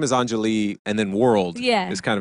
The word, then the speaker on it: Anjali: Basically, so people don't know that the name Anjali, that's really how you say it. Anjali.